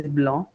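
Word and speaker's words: blanc: For example the word for white is blah. Again c is silent at the end.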